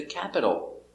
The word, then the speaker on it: capital: visiting mr brown's parents the capital pronunciation ah cat remember the t between two vowels we pronounced with the d sound the capital specific the